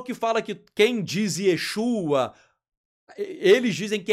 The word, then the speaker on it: Yeshua: Poxa, primeiro que os manuscritos em hebraico e em aramaico, o nome do Mashiach é Yeshua. Não é Yehoshua, não é Yahushua, né?